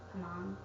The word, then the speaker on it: Hmong: They were Hmong, and that's how you say it.